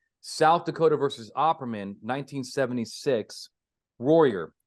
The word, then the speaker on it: Royer: So number one is according to South Dakota versus Opperman, 1976, Royer. I think it's Royer. I want to spell it Royer, but it's not quite like it's spelled, but it might be close.